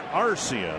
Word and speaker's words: Arcia: I checked with Oswaldo before the game today, and the correct pronunciation of his last name is Arcia. The emphasis on the first syllable.